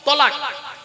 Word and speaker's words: তলাক: তালাক দিয়ে দেয়। তাই না? বাবা শব্দটা তালাক নয়। শব্দটা তালাক নয়। শব্দটা হলো তলাক।